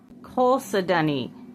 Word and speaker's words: chalcedony: Chalcedony.